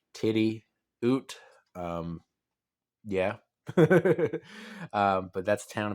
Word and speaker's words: Tidioute: into this thing about how to pronounce tidiot if you didn't know it's titty oot um yeah but that's